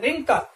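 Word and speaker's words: wrinkle: next word में देखेंगे डब्ल्यू आर आई एन के एल ई रिंकल, यहां पर भी हम देखो प्रोनाउंसेशन क्या कर रहे हैं रिंकल रिंकल, यहां पर डब्ल्यू जो है इसका हम प्रोनाउंसेशन नहीं कर रहे हैं, और रिंकल का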